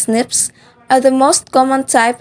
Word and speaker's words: SNPs: differences in our dna single nucleotide polymorphisms or snps pronounced as snips are the most common